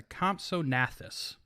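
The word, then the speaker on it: Compsognathus: to call this a comp so nasus I think the G is silent people are going to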